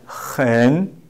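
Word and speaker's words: 很: In Chinese, we pronounce this word hen, hen, hen.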